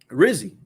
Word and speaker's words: Rizzi: quote tweet and he said it also rhyme with Drizzy so both of these guys are endorsing you know Rizzy you know uh Darren